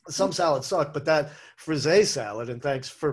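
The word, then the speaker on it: frisée: things suck so some salads suck but that frise salad and thanks for pronouncing it properly i always call it freezy and that's like like a little kid with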